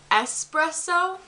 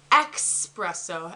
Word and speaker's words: espresso: She says, instead of saying espresso, she says expresso.